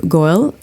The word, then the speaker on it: Goel: without further Ado I'd like to introduce goyal welcome to blockchain recorded it's a pleasure